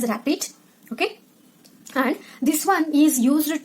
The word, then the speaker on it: RAPD: Okay, it is this one, and this is pronounced as rapid.